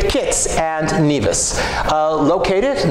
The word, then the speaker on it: Nevis: the people of the island took the first syllable and now parlor island Nevis however when James Hamilton about whom we're going to learn later named the estate he named it nevus after the birthplace of his father why the